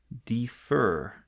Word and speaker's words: defer: Okay, so the first one is if the last syllable is stressed. So the last syllable is stressed. And sometimes it's much easier just to see what this looks like in practice. Okay, so the last syllable stressed. Let's have a look at one here. Defer.